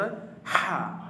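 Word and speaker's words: ح: আমরা শিখে নেই স্বাভাবিকভাবে হলকের হলকের শেষ ভাগ হতে উচ্চারিত হয় স্বাভাবিকভাবে হলকের শেষ ভাগ হতে উচ্চারিত হয় হা স্বাভাবিকভাবে হলকের শেষ ভাগ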